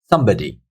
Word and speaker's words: somebody: So number four, somebody, somebody. So we've got three syllables here. Somebody. So if you hear me, somebody. So the first syllable is taking the stress. It's much louder than the other syllables.